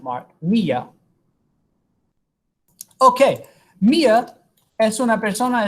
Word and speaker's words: Mía: If you just wrote that without an accent mark, the emphasis would be on the A. It would be pronounced Mia.